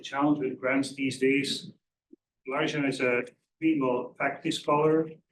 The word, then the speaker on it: Largent: It's very American. It's with a hard T. Largent. Largent, okay.